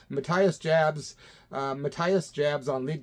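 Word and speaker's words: Matthias Jabs: looked it up man I saw him pronounce his own name Matias Jabs uh mathas Jabs on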